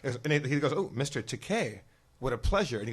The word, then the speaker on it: Takei: we're like, it's pronounced Takei.